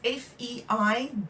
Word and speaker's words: feijoa: And now feijoa is Feijoa. Feijoa. That's how you spell it.